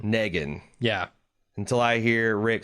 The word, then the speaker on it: Negan: The official Watching Dead pronunciation of that name is Negan. Negan.